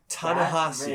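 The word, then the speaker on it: Ta-Nehisi: guys oh okay okay I'm reading that it pronounced pronounced Tallahassee and Tallahassee Coates so he's a he's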